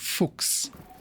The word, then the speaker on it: Fuchs: this goes here because it's pronounced Fuchs it's not pronounced the way you wish it was pronounced say it after me Fuchs you can't just pronounce